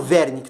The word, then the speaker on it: Wernicke: O W em alemão geralmente pronuncia o V, né? Então o Wernicke, tá?